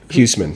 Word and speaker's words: Huseman: Hughman.